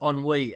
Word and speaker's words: ennui: And that's when anxiety, envy, embarrassment, and ennui come to the fore. And as I mentioned, nostalgia. It's pronounced ennui, Alex. On what is it? Ennui. It's a French word.